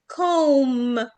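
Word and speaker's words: comb: عندي قلنا ان في قاعده في الانجليش بتقول ان الام مع البي مع اللي هي الفويس بي ما بننطقش، بننطق الام بس. بنقول ايه؟ كوم، كوم، لام.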